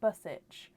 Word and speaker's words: Buich: Is it Buich? I hope that's correct. Suzanne Buich, are you here? Bussich. Buich? So Bussich. So Suzanne, so it's pronounced Bussich.